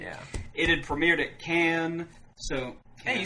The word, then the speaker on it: Cannes: It had premiered at Cannes, so...